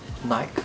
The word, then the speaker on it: Nike: original co-founder of nike nike here in the uk that's how we pronounce it and this book is